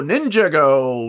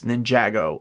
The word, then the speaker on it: Ninjago: From the world of Image Comics, we're getting Lego Ninjago Shatterspin. I don't think that's how you pronounce it. I really do think it's Ninjago.